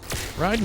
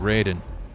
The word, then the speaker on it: Raiden: very difficult okay so here's a great thing riding his name would actually be pronounced riding but Boone and Tobias the original